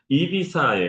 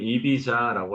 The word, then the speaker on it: Ibiza: 여름에는 이비사에 가야 되죠. 보통 한국에는 EB자라고 알려져 있지만 스페인어에서 Z G는 S하고 같은 발음이 납니다. 실질적으로. 그래서 2B라고 하는게 맞고 그다음에 사실은 한국에서는 자라